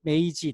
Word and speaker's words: magi: 예수를 찾아 왔을 정도니까 그 영어로는 magi 마기 라고 막이 이렇게 또는 맥이 이렇게 메이지 또 이렇게 메이지 이렇게 발음하고 끌었는데요 그 이 사람들은 정말로